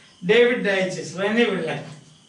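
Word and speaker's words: Daiches: David Digest, Rene Willock. 8. David Digest. 9. Rene Willock. David Digest. Some people pronounce this as Dykes.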